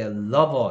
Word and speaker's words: lover: 애는 L답게 lover 이렇게 발음하고 rover 이건 고무고요. lover하고 rover하고 다르니까 뭐 사랑하는 사람하고 고무하고는 발음은 한국 사람들은 다 리을처럼 보이지만 얘는 으 얘는 어 발음이니까 다르게 발음해야 되겠고요.